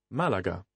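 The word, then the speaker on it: Málaga: however listen to this the airport where Lisa Martin arrived is Malaga Malaga quite clearly the stress here is on the first syllable if you look at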